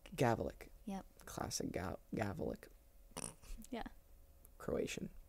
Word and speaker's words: Gavulic: Gavulic. Gavulic.